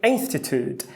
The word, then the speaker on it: institute: A palavra unique tem o I, mas não tem o schwa. Já a palavra institute, temos um I que é um schwa. Por que ele é um schwa? Porque ele é fraco.